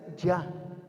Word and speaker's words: Jah: Al leer uno de los salmos, dicen, alaben a Jah, pero en realidad es Ya. La pronunciación correcta es Ya.